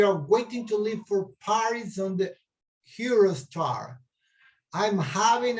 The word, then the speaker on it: Paris: París en inglés es Paris. Se escribe lo mismo, pero la pronunciación cambia el acento, ¿no verdad? No es en la I, sino más bien en la PA inicial, el acento en inglés.